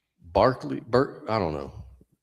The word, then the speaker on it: Berkeley: But yeah, I was going to say you guys must have heard of George Barkley and uh I think you pronounce it Barkley because he was Irish.